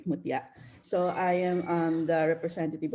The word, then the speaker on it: Mutia: You said it right, Mutia.